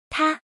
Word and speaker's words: 她: This word is pronounced as follow. Ta.